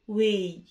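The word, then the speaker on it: weigh: بعد كده بقول لي جي اتش في كلمة يزن واي حروف صامتة، جي اتش في كلمة واي حروف صامتة يعني تكتب ولا تنطق.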